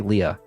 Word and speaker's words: Leah: it's like it's called maybe a closer a better translation would have been ria rai so i'm going to say leah since since it was two syllables in japanese she speaks in first